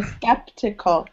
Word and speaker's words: skeptical: And remember, it's the I, not E, so skeptical.